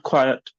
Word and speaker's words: quiet: This is quiet, like mm, somewhat like this term. Do you know how to pronounce it? right, Hmm? right, Rights. Ri- right. Right. Okay, maybe not a correct parallel. Wait. Um, speak this. Hyatt. Hmm? Hyatt. Hyatt. Hyatt. Hmm?